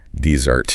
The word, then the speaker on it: dessert: Dessert. In dessert, two s's is that delightful sweet course you enjoy at the end of a meal. Cake. Ah. Yes. Yes. Here the stress is on the second syllable.